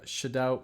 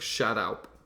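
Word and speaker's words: Shadout: if I'm wrong, but Shadow Mapes. It's close. It's like shout out. there's like an extra syllable at the end.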